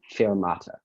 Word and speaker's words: fermata: That's the only pronunciation, fermata.